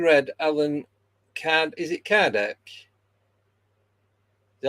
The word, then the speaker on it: Kardec: Is it Kardec? Is that how you pronounce it?